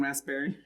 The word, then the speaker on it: raspberry: Do we pronounce the P in raspberry?